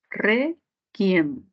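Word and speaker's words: réquiem: Requiem, grave que termina en M.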